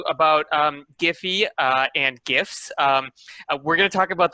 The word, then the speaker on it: GIF: the way um so some people say jiff uh uh like like the peanut butter um i prefer gif